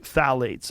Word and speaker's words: phthalates: the introduction of phthalates it starts with a p p t h a l a t EES I think it's how you spell it you say phthalates and phthalates are a